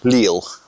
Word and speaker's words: Lille: you pronouncing that? Lille. No, how are you pronouncing it? Lille. Better. But I'm just doing it for the audience, aren't I? You kept saying... We've got to Lil. dumb this down. You kept saying little.